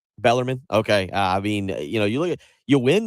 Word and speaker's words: Bellarmine: Louisville loses to Bellarmine, I believe is how I say it correctly. I think Bellarmine. Bellarmine.